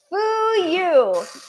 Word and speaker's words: Fuyu: hata and the fuyu. Foo you. Fool you. Like fool you. But it's not fool.